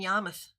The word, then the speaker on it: Yarmouth: Let me say it correctly, in Yarmouth on Cape Cod.